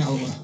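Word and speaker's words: hour: आइ am waiting you for half an आवर। यच ओ युआर। खोइ यहाँ मैले हावर भनेर बोलेन, आगो भनेर बोलेँ। यसको मतलब यच भन्ने लेटर साइलेन्ट छ, त्यस कारण आ उच्चारण भएको यसको।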